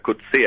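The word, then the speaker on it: Coetsee: a este señor bueno se pronuncia cut si a la cruda exposición correcta igual que el que el premio nobel de literatura y él cuando hablaba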